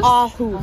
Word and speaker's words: Aarhus: Anyways, so the sweet lady right here did confirm that it is pronounced, what was it? Aarhus? Aarhus.